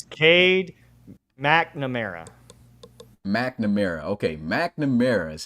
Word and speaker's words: McNamara: supposed to say it I've been calling it camera oh no you were saying I I forget I was saying nickname no it's Cade McNamara McNamara okay McNamara is how you say his